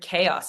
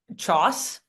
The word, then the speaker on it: chaos: books and they had the word chaos in it. And I was like in third grade and I was like, Choss? And for like 5 years, I was like, oh yeah, that's how you say it.